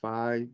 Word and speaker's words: Phi: represented by the Greek letter Fe Phi some pronounce it fi the proper pronunciation in Greek is Fe and uh you get this ratio one to